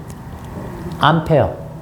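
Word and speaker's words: ampere: 거 있습니다 앙페르 앙페르 사람 이름이니까 그나라 발음으로 해주고 단위 그 사람 이름 딴 거거든요 요거는 이제 암페어 어 미국식 그 영어 발음으로 해서 암페어 이렇게 부릅니다 자 자요 밀리암페어 이런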